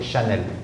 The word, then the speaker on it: Chanel: You said Chanel.